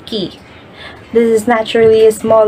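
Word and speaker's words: cay: The next terminology that we have is a word that has letter C-A-Y, which pronounces key.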